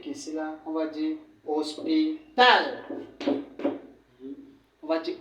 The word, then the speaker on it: hospital: Ça veut dire que quand on a dit que lorsqu'un mot se termine par les consonnes, l'accent se place plutôt à la dernière syllabe. Ça veut dire qu'ici là, on va dire hospital.